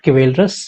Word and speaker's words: chivalrous: डिकोरस, one more word you can take, CHIVALROUS, this is pronounced as chivalrous। मैं यहां लिख देता हूं, not chivalrous, chivalrous।